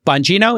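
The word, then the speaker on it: Bongino: And these included people like Dan uh Bangino, is that how you pronounce it?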